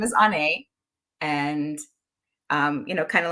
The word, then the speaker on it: Onae: me, my name is Onae. And, you know, kind of like when you go to the doctor, you know, and he says, say, ah, yeah, that's ah, Onae, not Onae. It's Onae.